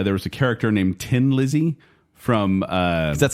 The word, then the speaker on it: Thin Lizzy: there and they said they kind of made fun of the Irish saying tin like you know he's a